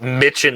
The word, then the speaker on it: Michin: Listen, they spell it Mitchin like bitchin', so I'm always going to call her Mitchin.